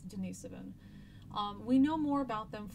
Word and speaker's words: Denisovan: One of these groups is called Denisovan or Denisovan, however you want to pronounce that is fine, but I believe it's Denisovan.